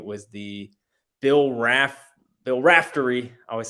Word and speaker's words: Raftery: they played it was the bill RAF bill raftery I always say his name wrong Rafferty raftery Rafferty uh he did his famous onions